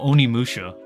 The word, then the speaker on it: Onimusha: The game name is called Onimusha. That's literally Oni and then Musha.